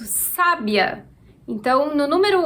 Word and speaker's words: sábia: A sílaba tônica é a sílaba que está com acento, sa.